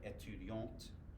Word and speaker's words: étudiante: Belle étudiant, and then belle étudiante. Pronounce the T, so we know it's feminine.